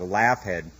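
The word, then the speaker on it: Laugead: that it is today it's spelled La u g e a d like laugh head which as far as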